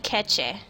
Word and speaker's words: Kece: dite we have TP casy here is it how you pronounce your name Casey casy it's if you go for Indonesian pronunciation it's TP catche okay T cat thank